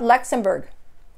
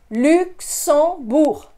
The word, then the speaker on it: Luxembourg: So Lux, Luxembourg. Notice I don't pronounce that G at the end. It's not Luxembourg. Luxembourg.